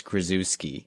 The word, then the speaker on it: Krzyzewski: Krzyzewski, quotation marks, said the correct way to pronounce my last name is Krasuski.